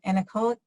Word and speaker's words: anechoic: We have, let's see, Devin's asking, is Model A equivalent to an anechoic chamber? Am I pronouncing that right?